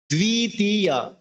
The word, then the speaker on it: দ্বিতীয়: বফলা, অর্থাৎ বফলার আমরা বফলার মতো উচ্চারণ করবো, আমরা ওয়া উচ্চারণ করবো না, বড় উচ্চারণটা বহাল রাখবো। আমি হয়তো আমার ভিডিওতে দেখি যেমন দ্বিতীয়, দ্বিত, হ্যাঁ, বফলার উচ্চারণ